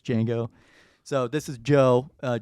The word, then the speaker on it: Django: as joe because like like django unchained like that or it's like it's not dojango you know it's it's django so this is joe